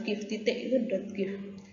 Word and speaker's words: GIF: dengan dot wuih ya Ini namanya dot keep ya bacanya dot gif wenjoy JPEG yang paling